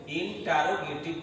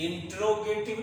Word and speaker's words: interrogative: इंट्रोगेटिव नहीं करना है, इंटेरोगेटिव करना है। INTERROGATIVE। और अगर हम इंट्रो करेंगे तो देख लो स्पेलिंग चेंज हो रहा है, ये है इंट्रोगेटिव, ये है इंटेरोगेटिव।